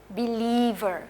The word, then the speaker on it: believer: कर रही हूँ ना, बिलीवर, क्योंकि बिलीव वर्ड, जो बिलीव का जो वर्ड है उसमें ईव की तरह प्रोनाउंस होता है और मैंने एंड में आर लगाया तो इसलिए बिलीवर।